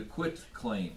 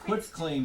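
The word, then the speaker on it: quitclaim: sale deed and a quit claim deed now that quick claim deed has I keep pronouncing that t because it's filled with a t not a c k a lot of people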